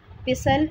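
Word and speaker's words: pestle: कोंडी डंडा, इसको कहते हैं पिसल एंड मोर्टल, पिसल एंड मोर्टल, टी यहाँ पे साइलेंट है।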